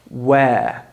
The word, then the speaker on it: where: middle of the word we don't really pronounce it so instead of saying where in American English we just leave it open it's just one sound the two vows e